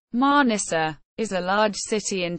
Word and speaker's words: Manisa: Mana Turkish pronunciation manissa is a large city in turkey's aan region